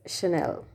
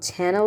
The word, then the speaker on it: Chanel: sells clothes jewelries perfumes slippers footwear it is chanel it's not channel or something else many of you pronounce maybe maybe pronouncing it as channel but